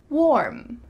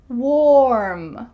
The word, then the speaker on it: warm: Warm. Warm. Warm. Make sure that this is one syllable.